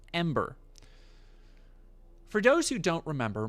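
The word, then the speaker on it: EM8R: uh which is I believe supposed to be pronounced Ember for those who don't remember Mark Kern has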